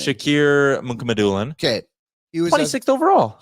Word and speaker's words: Shakir Mukhamadullin: Shakir Mukhamadullin.